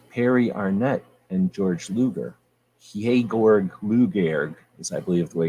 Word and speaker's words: Georg Luger: If you truly shoot 9mm, you hold your 9mm like this, with your pinky out, and you say Georg Luger, because that's the proper German pronunciation.